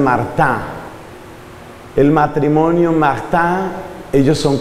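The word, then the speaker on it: Martin: Y los dos papás santos canonizados son de apellido Martín, que en francés pronuncian Martá.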